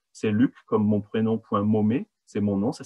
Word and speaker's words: Maumet: C'est Luc, comme mon prénom, point Momet. C'est mon nom, ça s'écrit M-A-U-M-E-T, comme Thierry.